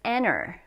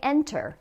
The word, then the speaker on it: enter: system in which okay the next one is enter so a lot of times people say enter but often when we're speaking at a normal Pace we say enter no tea at all we enter a world